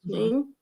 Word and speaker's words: Shein: Is that how it's pronounced? Shein? It That is. online? Jan. Yes, Sheen.